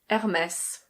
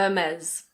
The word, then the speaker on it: Hermès: In French this is pronounced Hermès. Hermès. In British English it's a Hermès. Hermès. In American English the R is pronounced, so it's Hermès.